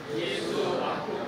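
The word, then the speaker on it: Yesu: 소리나는 대로 읽어보세요 시작 예수 다 무슨 뜻일 거 같아요 예수님이 예 예수는 한국 발음하고 똑같아요 예수 이렇게 하는데 에저 뭐냐면 예수님이 당신을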